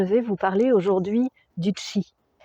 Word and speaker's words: Qi: Je vais vous parler aujourd'hui du chi qui s'écrit Q i.